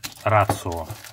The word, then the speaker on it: Extrema Ratio: Значит, здесь нож Extrema Ratio, либо Extrema Ratio, смотря по какому языку вы читаете. Extrema Ratio фирма итальянская, и по-итальянски читается Ratio, хоть там и пишется буква Т, Ratio.